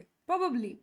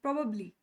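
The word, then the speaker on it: probably: Times ಏನ್ ಅಂತ ಹೇಳ್ತಾರೆ ಪ್ರಬಬ್ಲಿ ಪ್ರೋಬಬ್ಲಿ ಅಂತಾರೆ ಇವೆರಡು ತಪ್ಪು. ಸ್ಟೈಲ್ ಆಗಿ ಹೇಳಕ್ಕೆ ಹೋಗಿ ನಾವು ಆ ರೂಲ್ ಪ್ರಕಾರ ಆ ಶಬ್ದವನ್ನ ನಾವು ಅದನ್ನೇ ಉಚ್ಚಾರ ಮಾಡಲ್ಲ ಸೊ ಇಂಗ್ಲಿಷ್ ಅವರ ಪ್ರಕಾರ ವೆಸ್ಟರ್ನ್ ಫಾನೆಟಿಕ್ಸ್ ಪ್ರಕಾರ ಈ ಸ್ಪೆಲ್ಲಿಂಗ್ ಅನ್ನ ಹಿಂಗೆ ಹೇಳಬೇಕು ಪ್ರಾಬ್ ಅಬ್ ಲಿ ಪ್ರಾಬ್ ಅಬ್ ಲಿ.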